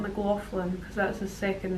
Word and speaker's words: McLaughlin: I met and Ray I told him it's McLaughlin not McLaughlin because that's a second name but he oversees